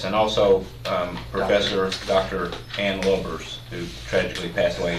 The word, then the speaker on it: Lubbers: Ann Lubbers, who tragically passed away.